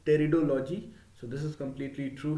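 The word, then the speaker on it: pteridology: into the category of territo fights here p is silent here so the study of fonts is called teredology so this is completely true here fonts reproduce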